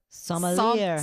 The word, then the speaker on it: sommelier: No, that sommelier. Sommelier. Well, that's not how it's spelled. That bugs me now. I'm the phonics girl. Anyway, must be a French word or something.